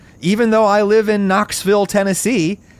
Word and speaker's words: Knoxville: Even though I live in Knoxville, Tennessee, I still pronounce it Knoxville, whereas most people who were born here generally say it more like Knoxville.